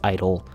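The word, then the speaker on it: I-DLE: say G at all I know it's supposed to be pronounced Idol giardo's last two comebacks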